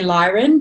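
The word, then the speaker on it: Lyran: work a lot with I'm gonna say leerin I know a lot of people say lion but they they say Lear and through me so I pronounce it that way that lion frequency yeah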